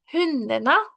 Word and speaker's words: hundarna: Hundarna. Y usualmente, chicos, la última E de la mayoría de las palabras en noruego se va a pronunciar como A. ¿Ok?